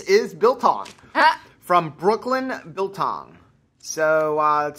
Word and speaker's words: biltong: all okay wonderful biltong I always say it wrong it long you say right I see bit long yeah it's biltong I forget I miss